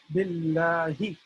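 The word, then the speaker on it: بالله: So the reason why we have two L's here is because it's important that we are pronouncing the name of Allah, which has two L's in there. It has two letter lams in there.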